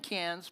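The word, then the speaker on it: Cairns: We fly into Sydney, Australia, and we catch a flight to take us up to Canes. And I'm saying cans because the AIES don't pronounce their Rs either.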